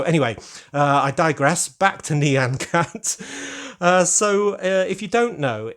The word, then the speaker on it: Nyan Cat: instantly know that that is Nyan Cat not Nyan Cat as some people pronounce it but Nyan Cat neon meaning meow basically in Japanese or on